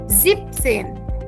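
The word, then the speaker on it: siebzehn: But here for 17, वी से जीब, जिपसेन, या। सो 17 बिकम्स जिप्सन, 18 इज़ आहटसेन, 19 इज़ नोएनसेन।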